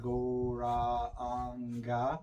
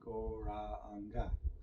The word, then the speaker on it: Gauranga: Inhaling thinking of the sound goranga. Four syllables. And on the exhalation to the length of the breath, singing, saying, uttering, expressing, chanting the name goranga.